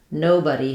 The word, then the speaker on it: nobody: everyday words that are spelled like the word body but are pronounced like the word buddy. So somebody sounds like somebody. Um so we have our same buddy sound as in above. Nobody sounds like nobody and anybody sounds like anybody.